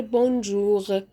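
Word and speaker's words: bonjour: يوم توجوغ صباح الخير بونجوغ يبقى انا نطقت الار غ جوغ توجوغ بونجوغ طيب ده بخصوص الار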